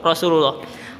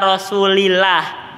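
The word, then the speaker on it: رسولُ الله: Bacanya Rasulullah. Aisyah tidak bisa begini. Qala Rasulillah, tidak dibaca kasrah, dibacanya domah. Qala Rasulullah.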